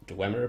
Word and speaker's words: Dwemer: I know it's pronounced Dwemer, but this is on purpose, Dwemer.